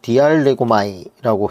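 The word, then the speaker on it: διαλέγομαι: 이 강론하다라는 이 말은 헬라어로 디알레고마이라고 해서 발음을 하고 있는데, 이 말은 토론하다, 대화하다라는 의미로 가장 많이 사용되는 말이에요.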